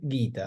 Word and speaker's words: Gita: de la del texto por ejemplo se puede decirlo así bueno se dice guita así que vamos a la palabra guita para para para referirnos